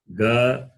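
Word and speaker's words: ग: Number 3, you can see ka, kha, ga, gha, na. Ka, kha, ga, gha, na. I will pronounce again in detail.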